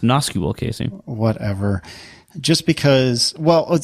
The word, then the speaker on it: NoSQL: It's pronounced NoSQL, Casey.